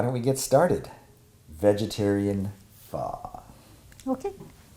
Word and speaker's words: phở: they feature far but the way it looks the way it's spelled it everybody pronounces it foe right and so but